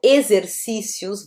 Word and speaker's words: exercícios: Ele tem som de Z, né? Quando eu falo exercícios, vamos fazer os exercícios, ok?